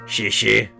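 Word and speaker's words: xièxie: Shishi. Yeah, it's that's really how it's pronounced. Like it's like saying thank you in Mandarin.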